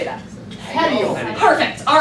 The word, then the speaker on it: petiole: Petiole.